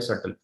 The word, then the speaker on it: subtle: सटल का मतलब है डेलिकेट, एक वर्ड है सटल, प्रोनाउंस करते हैं सटल लेकिन लिखते हैं SUBTLE, सटल।